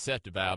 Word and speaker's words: Seth DeValve: Well, I apparently said the gentleman's name wrong. It's Seth DeValve.